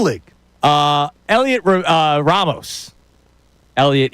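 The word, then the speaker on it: Heliot: Elliot, even though it's spelled H E L I O T.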